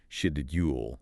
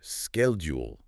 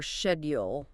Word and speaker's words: schedule: The spelling, schedule, often leads to a pronunciation like schedule. Right. The thing is, in, say, American or British English, the H is silent and the D and U kind of blend together to make a soft J sound. So you get schedule in the U.S. Or schedule in the UK.